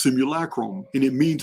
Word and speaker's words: simulacrum: it's a reason why I call this the similacrum and for those of you don't know yes I am mispronouncing it I will continue to do so